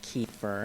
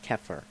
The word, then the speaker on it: kefir: America we call in America we call it kefir and it's it's actually pronounced keer keer keer and um but what I want